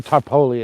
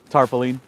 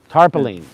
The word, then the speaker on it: tarpaulin: of nylon so it's good it's not not tarpoli and material no it's not what did you call it tarpaulian didn't Napoleon invent it all right so um